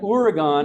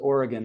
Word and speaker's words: Oregon: Everyone knows that the media mispronounces Oregon all the time, right? And how do they say it? Oregon.